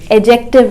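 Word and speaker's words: adjective: वास उसकी क्वालिटी बताइए एडजेक्टिव है तो ही अच्छा पता है आपको ऐड रिएक्टिव नहीं होता इस शब्द में दी साइलेंट है तो आप कहेंगे एडजेक्टिव एडजेक्टिव तो वो कैसा था उसके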